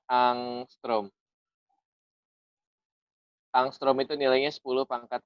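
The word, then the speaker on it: ångström: Dibacanya angstrom.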